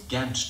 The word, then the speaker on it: Gantt: So I had to look it up, and the pronunciation of Gantt chart is actually Gantt chart.